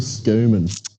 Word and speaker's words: Schumann: Sorry, is it Schumann or Skuman? I've been told to say Skuman from the family.